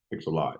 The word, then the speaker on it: Pixellot: Pixellot. Yeah. Pixellot. How did the Yeah. opportunity? Like lots of pixels, essentially. Yeah, Pixellot. Pixellot.